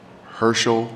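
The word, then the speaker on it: Hearcel: State Representative Herschel Craig. His name is spelled like Hearsel, H-E-A-R-C-E-L, Herschel Craig.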